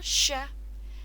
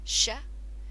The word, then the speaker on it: chat: Un chat. Again, remember we don't need to pronounce that last letter in the word.